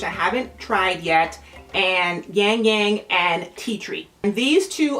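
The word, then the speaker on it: ylang-ylang: their velvet collection and this is the Labrador yangyang is how you pronounce it yin yang yin yang yang Yang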